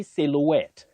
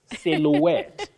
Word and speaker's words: silhouette: have at OD Omi you say silhouette not sil silhouette it's a long word but there are those silent ones so I know it's